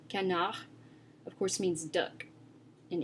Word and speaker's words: canard: Another example is the word canard. Canard. As you can hear, I'm not pronouncing the D at the end of the word at all. Canard, of course, means duck in English.